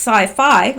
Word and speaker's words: Saifee: go wrong with that Saifee pronounced sci-fi of so it's sci-fi has a tethered drone